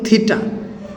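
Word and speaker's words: theta: তাহলে আমরা লিখব বৃত্তচাপ দ্বারা সৃষ্ট কোণ থিটা, এই উচ্চারণের নাম হচ্ছে থিটা বা থেটা।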